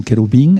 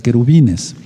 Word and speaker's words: querubín: alianza con los querubín, no querubines, sino querubín, es lo correcto. Queruf en singular, querubín ya es en plural, en hebreo. Entonces, en español no es correcto pronunciar querubines.